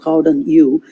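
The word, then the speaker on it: gouden eeuw: the term golden eu or as they pronounced it howden you did not do justice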